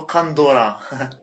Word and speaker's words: kandora: La vraie prononciation, c'est plutôt kandora.